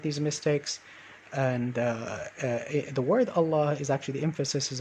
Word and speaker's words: Allah: begol okay so similarly with the word allah instead of saying allah you say long allah allah allah say it